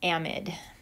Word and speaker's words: amide: this is called an amide looks like amide but it's pronounced amid so these are the